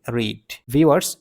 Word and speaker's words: read: আছে এই রিড ওয়ার্ডটি past form এবং পাস্ট পার্টিসিপল ফর্মের বেলায় উচ্চারণ হবে রেড তাহলে এই ক্ষেত্রে রাইট